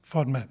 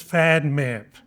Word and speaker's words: FODMAP: And the Oxford dictionary even tells us how to pronounce FODMAP. And so in British English, it's FODMAP. In American, it's fad map.